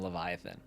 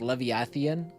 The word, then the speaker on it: Leviathan: sahagan and the Leviathan I used to have the hardest time pronouncing Leviathan I always I was like like leviathian like I always like threw like three extra eyes in there the lord of the